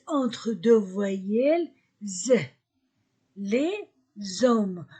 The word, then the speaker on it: hommes: entre deux voyelles les hommes je ne prononce pas le H je ne prononce pas le S les hommes les hommes le crayon